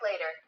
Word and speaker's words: later: later에서 기억나십니까? 트가 강세가 있고 강세가 없는 모음 사이에는 뭘로요? 르 발음으로 단타마가 되는데 이 부분 위치 기억하시죠? 경국에를 탁 친다, 실라, 가라 기억하시죠? later.